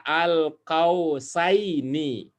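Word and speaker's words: القوسين: Ini dibaca al-qausaini.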